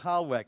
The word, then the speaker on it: Hallweck: Holwick, am I pronouncing that correctly?